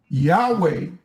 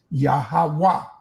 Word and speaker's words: Yahweh: Yahweh is a mispronouncion. It's no such thing of a God of the Hebrews called Yahweh. There's no E in Hebrew. So you cannot get that. It's Yahawah.